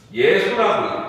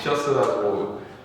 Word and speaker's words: 예수: 우리 이런 거 있잖아. 예수라고 있지. 지셔스라고. 미국 놈들은 이상하게 있잖아. 예루살렘도 아니라 제루살렘이라고 있고. J를 그냥 J로 발음하는데 원래 이제 본토 발음은 뭐야? 예수, 예루살렘이지.